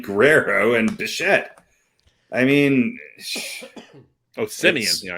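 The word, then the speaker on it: Semien: I mean, Simeon. Yeah, I pronounced his name wrong. What'd you say? What'd you call him? I think I said Seaman. Seaman? No, he's not. Yeah.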